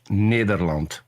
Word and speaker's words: Nederland: Peter, what is the correct pronunciation of your country name? The Netherlands if you want to do it in Dutch, Nederland.